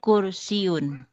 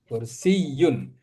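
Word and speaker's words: كرسيّ: La hadza kursiun. Kursiyun. Jadi kalau kursiana itu ada tasdid itu ya.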